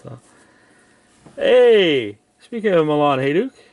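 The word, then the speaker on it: Hejduk: Milan Hajduk jersey card. Or as the Americans say, Milan Hajduk.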